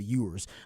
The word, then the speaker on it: Ewers: talking about Queen Euros he does mispronounce his name he calls him you were oors instead of yours uh but I think